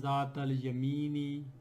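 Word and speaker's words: ذات اليمين: And Zat al Yamini, this is a harf Shamsiya, and Zat al Yamini, Yamin is moon word, so I will be pronouncing the lam here, Zat al Yamini.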